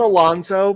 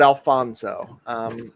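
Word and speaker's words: Alfonzo: Yeah, not Alonso, but Alfonso.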